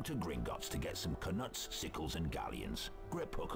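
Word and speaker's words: Knuts: Go to Gringotts to get some canuts, sickles, and galleons. Grip Hook will see you right. Yeah, canuts. That's how it's pronounced.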